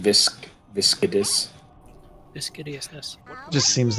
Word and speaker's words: Viscidus: It's pronounced viscidus.